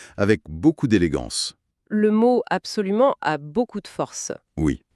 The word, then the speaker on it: absolument: On peut aussi utiliser le mot « absolument ». Il faut faire attention à bien prononcer le son nasal à la fin du mot. Absolument.